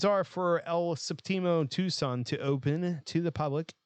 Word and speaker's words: Tucson: will be located in Tucson Arizona the opening you know when I naturally pronounced it properly but whenever I read it earlier I'm like Tuscan Arizona where the